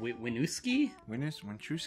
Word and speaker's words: Winooski: I probably butchered that name. What was it again? Winooski?